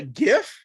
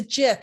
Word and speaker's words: GIF: She's like, it's not a GIF, Gail. It's a GIF. I was like, but it's spelled with a G.